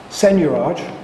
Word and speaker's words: seigniorage: A debasement, or another word for debasement, is seigniorage. Do I pronounce this correctly, seigniorage?